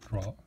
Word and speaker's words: draw: it should be drawing draw draw draw the W is silent that's all I'm telling